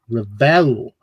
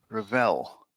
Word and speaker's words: Revell: And get waitress says, "Luke pronounces it revel with the emphasis on the second syllable." Rall. Rall.